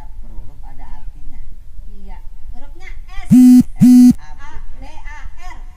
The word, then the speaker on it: Sabar: Hurufnya S. A, B, A, R. Dibacanya Sabar.